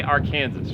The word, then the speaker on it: Arkansas: the arkansas river yep well locals say our kansas river kansas or kansas right but uh and then